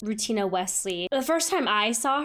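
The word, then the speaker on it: Rutina Wesley: love who plays Maria I believe her name is pronounced routina Wesley the first time I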